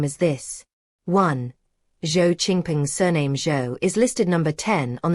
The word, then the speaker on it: Zhao: Zhao is pronounced like the common English name Joe.